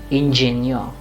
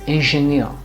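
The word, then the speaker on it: Ingenieur: or in hindi so you should not say ingenio no it's engineer now how do you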